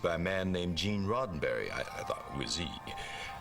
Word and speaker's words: Roddenberry: Rosenberry. Silver, what is it? Where's Lieutenant O'Neill? What? Who? She said, I'm sorry, it's pronounced Roddenberry.